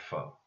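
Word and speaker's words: faux: your enemy FOP but a word of the same pronunciation but a different spelling such as used in the phrase full pas F aux that foe that version of the word foe and that means made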